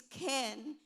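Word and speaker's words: חן: So I thought it was chen and chesed, but I researched and the way they pronounce it is ken and kesed.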